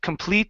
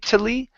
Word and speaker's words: completely: we have completely now here this e after the t is uh is not pronounced so instead of complet completely it's completely completely um completely complet completely